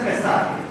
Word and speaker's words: Essar: When it is ESSAR, it is pronounced as SR.